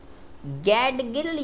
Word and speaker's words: गाडगिल: है इस योजना को गैडगिल योजना के नाम से जाना जाता है। गाडगिल कह सकते हो, गैडगिल कह सकते हो, कुछ भी प्रोनाउंसिएशन कर सकते हो।